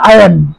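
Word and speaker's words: iron: water, আয়রন, আয়রনের উচ্চারণ আয়ন, আয়ন, sound, knowledge, help, damage,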